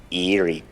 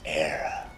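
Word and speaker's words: Éire: The land to your fathers isn't Erie, boyo. It's Era.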